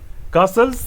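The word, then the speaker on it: castles: देखिए दोस्तों first question, wild कासल्स, ठीक ना, टी इसमें साइलेंट होता है, wild kajals in द एयर, इसका क्या मीनिंग है, ठीक है ना।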